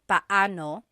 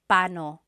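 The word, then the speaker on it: paano: And then just a pronunciation tip it's technically when there are two vocab or when there are two vowels together you say them separately pano. But when speaking quickly, Filipinos just say pano pano.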